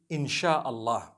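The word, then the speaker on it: إن شاء الله: They pronounce the S-Y the way we pronounce S-H. So they can write it how they want, for as long as when people read it, they read it inshaAllah.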